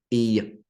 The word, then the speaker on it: Eoin: So Eoin, which is spelt in the Irish way, so it keeps me on my toes constantly. Eoin, and by the way, in case that's not clear, Eoin, Eoin.